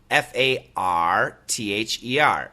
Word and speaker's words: farther: a question can you help me with the pronunciation of father and farther f a t h e r and f a r t h e r you bet listen carefully father farther okay so